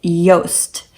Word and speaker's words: Joost: There are several Dutch boy names that start with J, and this name is JOOST. So again, that J is pronounced like a Y, and this means just.